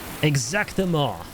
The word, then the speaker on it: exactement: Exactement. Did I say that right? When it's like ment, M-E-N-T, it's ma, right? That's how you pronounce that?